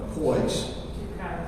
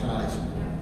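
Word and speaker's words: Kyes: Boston Police Commissioner Gross, and Chelsea Police Chief Coys. Chief Kais, I'm sorry, it's spelled, but it's pronounced Kais, who were able to make a score.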